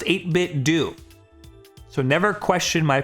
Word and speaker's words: 8BitDo: It's pronounced 8BitDo.